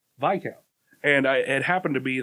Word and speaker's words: viscount: Yeah, there was like, I listened to the English version, and it was like, oh, Viscount.